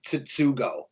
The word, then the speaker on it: Tsutsugo: Yoshi Tsutsugo.